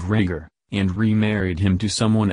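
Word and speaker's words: Rhaegar: an an alment for a prince ragger an apparent mispronunciation of rager and remarried him to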